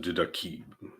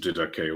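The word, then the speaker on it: Didache: I've heard people pronounce it didaki, but no. I prefer at least didake, although technically you could pronounce it didaki.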